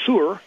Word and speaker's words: Sur: Native pronunciation of Tyre is Sur, and that's in agreement with the East Indian sun god Surya, who's the son of Kanjapa, their version of Sidon.